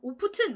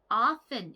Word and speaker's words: often: 이거 너무 오프튼 뭐 이렇게 발음하시면 안 되는 거 아시죠? often 이렇게 발음해 주세요.